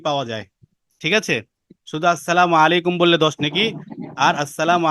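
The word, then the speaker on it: السلام عليكم: ঠিক আছে, তো সালামের ক্ষেত্রে আসসালামু আলাইকুম, মিমের পেশটা এবং আইনটা সহি শুদ্ধভাবে উচ্চারণ করতে হবে।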